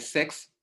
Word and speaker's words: CEX: plateforme décentralisée qu'on appelle SEX, SEX veut dire Centralized Exchange, plateforme décentralisée, donc SEX s'écrit CEX.